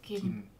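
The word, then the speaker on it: 김: it's called kim softer it's not k it's more like g kim the pronunciation is not k my mom's side name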